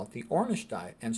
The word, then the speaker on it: Ornish: we'll call it the ornish diet and Stress Management I always tell people ornish rhymes with Cornish because they'll remember that